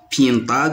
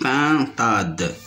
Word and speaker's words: pintade: le son 1 par on dit pas Piedade mais on dit pintade la sixième image ceinture